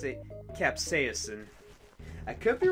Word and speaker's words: capsaicin: have to pronounce this donut I think you pronounce it capsaicin I could be wrong but I think you pronounce it capsaicin that's EAP si I CIN capsaicin I'm going